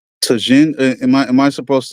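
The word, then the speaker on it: Tajín: out just to say Tajin am I am I supposed to I'm not supposed to pronounce the J am I the tahen and mango maybe spell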